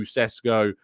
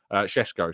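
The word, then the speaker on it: Šeško: an offer made to cesco shesko sorry I should uh pronounced it better than that shesko of course has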